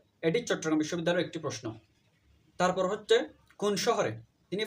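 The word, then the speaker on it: Paris: প্যারিস হচ্ছে ফ্রান্সের রাজধানী এবং একে ওদের ভাষায় পেরি বলা হয়। যদিও আমরা ইংরেজিতে প্যারিস বলি, কিন্তু ওরা ফ্রান্সের ভাষায় একে পেরি বলে।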